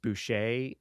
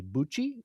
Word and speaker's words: Boucher: The issue is that his name is pronounced Boucher, and Anthony in the video, Grave Robbing for Morons, mentions a Bucci, or I think he says Poochie, but people kind of stretched it to say Bucci.